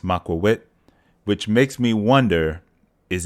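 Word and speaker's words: macuahuitl: next or another game I'm going to leave you with the correct pronunciation of ocelotto's weapon maqua wit now I know it says the English version is but the correct pronunciation is macawit which makes me wonder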